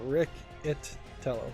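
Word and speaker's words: Riccitiello: but I think the second I here is just kind of silent, and it's Riccatello. Rick and the second C is silent, and the second I is so Riccitello. That's how I'm going to pronounce it.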